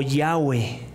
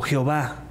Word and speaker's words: Yahweh: Es el nombre que que los que ahora se pronuncia como Yahweh o Jehová yo soy.